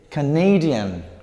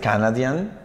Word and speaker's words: Canadian: Y acá cambia la pronunciación inclusive, porque es Canadian. Canadian, no es Canadian, right? Como esperaríamos en base a la pronunciación. Canada, en la primera sílaba. Canadian, ok?